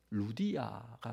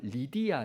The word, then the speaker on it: 리디아: 아는이 사람은 앞에서 있었던 루디아가 순두 개다 그래서 정교의 사람 그렇게 믿고 있어요 그리고 디아는 귀신들렸던 여종이 유디아 이름이 여러분 루디아는 사람 이름이 아니에요 원래이 발음이 한글로는 루디아 됐지만 리디아 있니다 리디아는이 루디아가 있었다는 두아디라